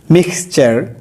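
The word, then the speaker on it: mixture: তাহলে শব্দের মাঝখানে টি রয়েছে, টি এর পরে ইউ আছে, যার কারণে টি এর উচ্চারণ এখানে চ হবে, ট করা যাবে না, সেঞ্চুরি। মিক্সচার, মিক্সচার, এখানে MIX, মিক্স, TURE, চেয়ার, চার হবে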